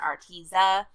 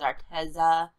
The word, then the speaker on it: Arteza: contact multiple times with Arteza, I guess is actually how you say it, not Arteza, it's Arteza.